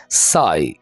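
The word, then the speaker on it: sigh: आह भर रहा था साई यहां पर आपने जी को साइलेंट रखना है नहीं बोलना साई ठीक है स्क्रीम स्क्रीम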